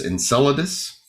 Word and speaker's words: Enceladus: two in particular are in enceladus or i've heard it pronounced both ways enceladus um and that's uh